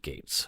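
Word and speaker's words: Getz: some people might pronounce it grits but he pronounced it Gates okay Jennifer looked stressed from the beginning again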